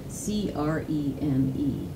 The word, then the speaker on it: creme: I love how they spell it C-R-E-M-E instead of C-R-E-A-M, but I think we should pronounce it correctly from now on. It's a chocolate mint creme sandwich cookie, isn't it? Creme."